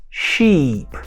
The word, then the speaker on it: sheep: Pronunciation, sheep. Sheep. That's different. Sheep é ovelha ou ovelhas, porque essa palavra não tem plural. E ship é barco ou navio. Então a gente precisa pronunciar essas palavras corretamente, senão a gente pode falar uma, mas querendo falar outra.